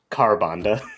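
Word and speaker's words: Ka'Bandha: you know uh fights kabanda sorry the to use the European pronunciation carbonda Oh I thought it was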